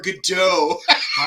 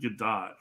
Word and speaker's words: Gadot: Yeah, we were just having our debate: Gadot or Godot. I've heard her pronounce it Gadot, so Okay. I'm sticking with the T.